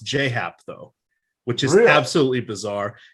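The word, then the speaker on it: J. A. Happ: And as I've learned in recent years, it's not J-A-Hap. It's how it's spelled. It's pronounced J-Hap, though, which is absolutely bizarre.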